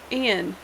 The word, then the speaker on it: Ian: Like, how do you get Ayana from Ian? It's very clearly just like, it's Ian. It's Ian H05.